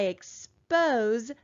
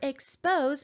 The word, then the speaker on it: expose: that means the word expose is a verb it's something that i do and i've learned that verbs that are two syllables will usually have the accent mark on the second syllable so let's move our